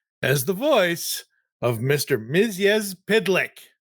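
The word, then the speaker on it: Mxyzptlk: Miz Pidlick. Rex Pedlick. No, Miz Pitlick.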